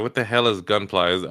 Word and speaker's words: Gunpla: "What the hell is Gunpla?" Are they trying to say gunplay and they just misspell it multiple times? No, Gunpla is like the the um models Gundam plastic.